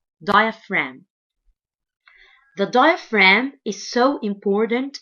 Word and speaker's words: diaphragm: body this muscle is called diaphragm diaphragm diaphragm and the G letter here is silent diaphragm the diaphragm is so